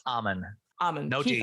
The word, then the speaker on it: Ammann: Yeah, it's Ammann.